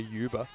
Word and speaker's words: Uber: block hole okay so what is the German pronunciation of uber it would a bit more of a uber Uber yeah cuz it's got the the umow I assume the the taxi brand does not have the umow in it but um